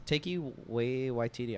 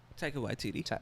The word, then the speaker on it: Taika Waititi: Is Taiki Waititi? I want to say it right. Taiki Waititi. Taika Waititi.